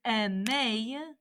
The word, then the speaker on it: aimez: Vous is aimez, pronounced just like the infinitive, but it ends in an EZ.